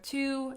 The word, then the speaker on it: と: It's pronounced as to, and it means and in English.